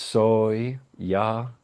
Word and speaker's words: soya: So if you want to use just soya s o y a soya it's pronounced soy ya ya soya soya pronounce